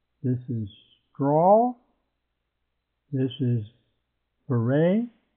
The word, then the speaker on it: beret: This is beret. And it's a French word, and you don't pronounce the T.